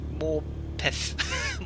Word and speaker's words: Morpeth: You're not supposed to pronounce the E as much in Morpeth.